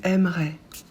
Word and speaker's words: aimerais: pas le S tu aimerais pour tu on ajoute aussi a S qu'on prononce e on prononce pas non plus le s il aimerait elle aimerait